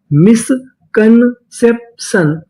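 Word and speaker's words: misconception: अगर आपको इंग्लिश में कहीं पर TION लिखा मिले तो हम लोग TION का उच्चारण करते हैं शन, क्या पढ़ते हैं इसे? सन। तो पूरी मीनिंग क्या बनी? मिसकंसेप्शन, मिसकंसेप्शन, मिसकंसेप्शन।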